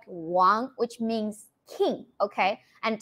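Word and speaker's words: 王: This means king, and it's pronounced as Wang. W-A-N-G. Actually, our photographer team, his first name is Wang. Last name. Like the actually the family name, right? Family name is Wang. Okay. I think American people would like to pronounce like Wang. Yeah, but it's like Wang.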